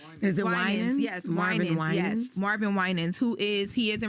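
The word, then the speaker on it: Winans: So, I'm saying the last name wrong. Uh, is it? Yes, Marvin. Marvin Winens who is he is in relation to CCBB, the whole big gospel family.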